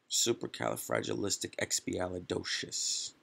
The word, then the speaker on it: Supercalifragilisticexpialidocious: Supercalifragilisticexpialidocious. So where's the emphasis? Exactly, on the do. Docious.